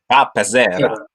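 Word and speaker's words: Papersera: And some of the people from, you pronounced it for me, Papazera? Papazera? Yeah. You even speak better Italian than I do. Papazera.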